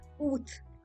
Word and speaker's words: août: So Monday is pronounced as lundi. Monday is lundi. Thursday is jeudi. Jeudi. August août.